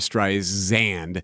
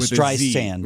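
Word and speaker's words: Streisand: frustrated with Siri cuz Siri would say her name is Barbara stri xand instead of sand it would say Barbara stri zand barand as opposed to stri sand it's stri sand like sand on the beach now how simple can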